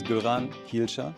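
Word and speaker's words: Göran Hielscher: My name is Goran Hilcher. So, for the English natives I always say like it's like go, run, heal, share to pronounce it more easy.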